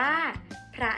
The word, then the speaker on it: พระ: เดียว กัน นะ คะ มา รวม กัน เรา จะ อ่าน ว่า พระ นั่น เอง ค่ะ เห็น ไหม คะ เรา จะ ออก เสียง ความ พาน กับ รอ เรือ ควบ กัน และ บวก ด้วย ค่ะ อะ ซึ่ง เป็น คำ